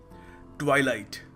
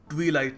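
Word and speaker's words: twilight: ट्वाइलाइट। ट्वाइलाइट, मेरे भाइयों और बहनों, ये ट्वीलाइट नहीं है, सो कभी इसको ट्वीलाइट मत कहना, इट इज़ ट्वाइलाइट।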